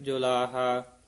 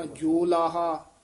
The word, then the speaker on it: जुलाहा: नामा शीबा कबीर जुलाहा। होड़ा भी है अंकड़ भी है, ये दरम्याना जा उच्चारण करना, ना कहना जोलाहा, ना कहना जलाहा, यानी दरम्याना जा उच्चारण करना जुलाहा, यू उच्चारण कर देना नामा शीबा कबीर जुलाहा।